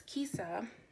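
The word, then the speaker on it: Kesia: So it's Kisa, I like to, whenever I have it written down and I'm letting people know how to pronounce it, I like to say it's pronounced like Lisa, but with a K.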